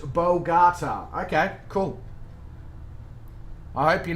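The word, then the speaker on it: Bogotá: chef coke thank you very much fozzie it's pronounced bolgata okay cool i hope you're not pulling my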